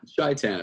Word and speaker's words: Shaitan: Shaitan is fine, yeah. Shaitan. Sounds like Satan with extra steps.